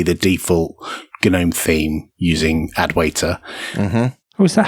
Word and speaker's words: Adwaita: particular theme probably the default genome theme using adwaita uh-huh oh is that how you pronounce it I was how I pronounce it